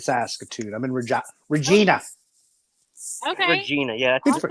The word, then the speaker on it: Regina: Regina. Yeah, Awesome. that's the proper way to say it, girl. Exactly. It's Latin for queen.